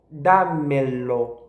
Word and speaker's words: dámelo: que temos no imperativo dámelo. Não existe aí vogais átonas, são todas tónicas. Dámelo é bem forte.